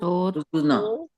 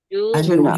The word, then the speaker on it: Arjuna: So where should I break it down? So Arjuna. So juna. Arjuna. You won't You won't break down the juna. Is juna one syllable? Ju and na, right?